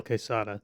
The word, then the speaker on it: Quesada: like a z in quesada if it's spelled with a z it's still pronounced like s oh yeah still quesada thank you um he's